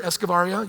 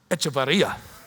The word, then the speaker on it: Echevarria: We have a couple of rare exceptions here, Escovaria, yep. I always say it wrong, brother. Mecky was like schooling me. She's like, hey, oh shoot, I even forgot how to do it again. Echevarria, that's right.